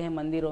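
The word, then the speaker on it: hymn: Actually spelling है एच वाई एम एन. एच आई एम भी हिम ही होता है, एच वाई एम एन भी हिम ही होता है. हमें ये देखना है कि हम किस संदर्भ में लिख रहे हैं या किस संदर्भ में बोल रहे हैं, तब हम स्पेलिंग लिखेंगे. सो एच वाई एम एन ये वर्ड सही है, इसमें एन साइलेंट है.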